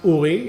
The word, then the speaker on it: Uri: So for example, my name is pronounced Uri. Italian can say that, but Americans cannot.